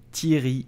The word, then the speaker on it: Thierry: you say his name correctly you will say thierry only thierry tyrion so the h at the